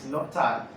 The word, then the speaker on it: Lyotard: We all have different ways of pronouncing this name because this word is very terrible. Lyotard, Lyotard or Lyotard, but Google says it is Lyotard.